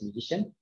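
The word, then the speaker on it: musicnn: the authors of musician it's written in music cnn but the authors wanted to pronounce it as musician so they propose to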